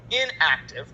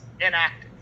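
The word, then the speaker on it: enactive: Inactive, and notice how it's spelled. This is not inactive, I-N. This is inactive. So I don't know if the emphasis of the syllable helps with that aspect, but inactive is the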